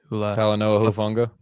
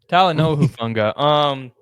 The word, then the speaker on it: Talanoa Hufanga: Talanoa Hufanga. Yeah. Oh, thank you. You're a translator. Talanoa Hufanga.